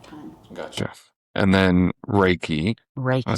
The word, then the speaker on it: Reiki: And then, Reiki. Did I say it right? Yes, you did. Reiki.